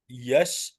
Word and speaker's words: यश: नहीं नहीं नहीं नहीं, यश उसका हम्म, प्रोनाउंसिएशन है, या और श का।